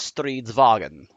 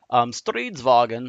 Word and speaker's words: Stridsvagn: That is the abbreviation for pretty much the Swedish word for tank, which is Stridsvagn. Stridsvagn, I can put on the text on here, is spelled as such.